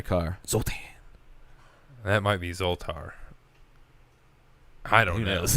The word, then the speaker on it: Zoltar: Uh, Zoltan. Zoltar. I hear people say it wrong all the time, so there's been Actually, it might be.